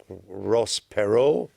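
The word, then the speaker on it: Perot: jolly jape don't back Ross pero which rhymes with whacko you've been working on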